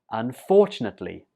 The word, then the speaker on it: unfortunately: 19 is unfortunately unfortunately the stress goes on the second syllable here unfortunately one more time unfortunately